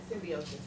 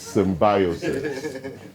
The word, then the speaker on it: symbiosis: Yes, and the right English pronunciation is symbiosis. Okay, I know Americans might call it symbiosis. The English pronunciation is symbiosis. Okay, check the dictionary.